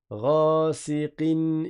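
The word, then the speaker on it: غاسق: Ghasiqin idha. Et le rain, il est emphatique, c'est pas ra, c'est pas ré, c'est ra, ra.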